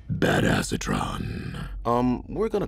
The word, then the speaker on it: Badassatron: is um bad acetron which is actually pronounced bad acetron um we're going to